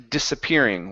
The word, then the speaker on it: disappearing: And your last word here is the word disappearing. Working on this s sound. Instead of disappearing, it's dis. An unvoiced s.